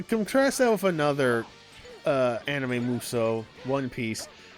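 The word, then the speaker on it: Musou: up, not like a Mosu. Yeah. Yeah. Muso. Sorry, I've been saying it wrong this whole time.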